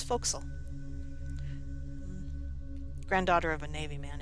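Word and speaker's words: forecastle: ship the bow the foxel deck right there yes i'm going to use the correct way of saying it the more traditional way of saying it i suppose it's not for castle it's foxel granddaughter of a navy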